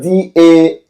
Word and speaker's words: Dalong: I understand the spelling is spelled D-A-L-O-N-G. If pronunciation is different from the spelling, it's Dalong.